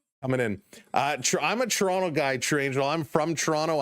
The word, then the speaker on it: Toronto: Why do I say Toronto weird? because I don't say it like a lot of the uh New York fans to say Toronto. It's Toronto. That's how Toronto folks say it.